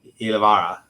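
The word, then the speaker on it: Ylävaara: And the author, sorry, I should have mentioned her name, is Rosa Lixum, or Ani Ilvara. Yeah. I got did I pronounce that right?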